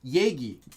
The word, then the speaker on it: 얘기: the dictionary, but it's read as 얘기 most of the time.